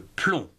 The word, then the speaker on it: plomb: d'organisation syllabique commençons avec un mot qui se termine par b mais qu'on ne prononce pas comme le plomb plomb-212 passons à d'autres